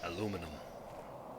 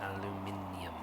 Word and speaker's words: aluminium: As a Brit listening to Americans saying aluminum, it's like it's aluminium.